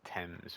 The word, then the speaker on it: Thames: They pronounce it Thames, which is weird that it's spelled like that.